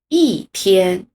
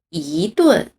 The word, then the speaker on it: 一: 就是一的标准读音是一声，读作一，但是像这句话中，它分别变成了第四声一天和第二声一顿。